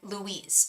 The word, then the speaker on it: Lewis: he is a Libra you say his name like Louise okay Louise what is